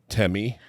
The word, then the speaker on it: Tehmi: I'm not going to say Tammy Pie. That would be like the worst. Do you know how her name is spelled? No. It's Tehmi. Okay. So it's like the last way you would say that name. Like to me, it's like Temi.